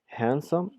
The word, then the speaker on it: handsome: بحال دابا مثلا هنايا عطينا كاين cute, beautiful، هنا beautiful، handsome، هنا دي ما كتنطقش يعني تقدر تكون خفيفة so handsome، tall، short، angry، kind and brave.